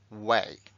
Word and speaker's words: weigh: queda Así luego esto se pronuncia way way sí como camino one way way y marcamos aquí